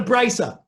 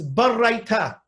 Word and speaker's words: baraita: So the barraita, and it's not a brisa, it's barraita. That's how you're supposed to pronounce it.